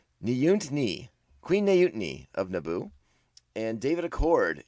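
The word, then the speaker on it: Neeyutnee: at the battle droids jamila mcmillan becomes queen nayoon no i said it wrong nyunt knee queen nayutini of naboo and david accord is the voice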